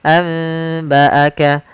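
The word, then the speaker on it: أنبأك: Maka cara membacanya, contoh pada lafal anba'aka, asalnya kan anba'aka, ini nun sukun. Karena bertemu dengan ba, nunnya biasanya ditandai dengan ada mim mati, mim kecil di atas huruf nun, yang artinya kita membaca langsung ke huruf ke huruf mimnya. Nunnya dianggap tidak ada lagi. Maka cara membacanya adalah amba'aka dengan bacaan itbaq.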